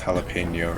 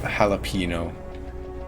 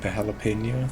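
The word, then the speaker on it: jalapeño: you yeah boy honestly i feel like english needs that letter if only just so people pronounce jalapeno right instead of jalapeno or gelatino all my homies say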